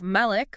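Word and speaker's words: مالك: So you have Malik with a long A sound, Right. and that means an owner. And then you have Malik with a short A sound, and that means a king.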